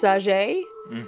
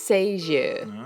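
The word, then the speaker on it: Sagée: Now, every other person I've heard read or do any kind of information on this girl says Sager, but I looked up the French pronunciation and it's Sager.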